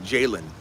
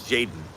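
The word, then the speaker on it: Jayden: Well, his name's not Jalen. It's Jaden. Greg. Get with the Greg. Stop calling Jaden Daniels Jalen.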